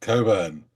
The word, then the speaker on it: Cockburn: a track by Bruce Coburn um a track called Lona and it's it is written cockburn but it is pronounced Coburn and British viewers will